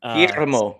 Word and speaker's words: Guillermo: Guillermo is how you say it, and he's the new Wow.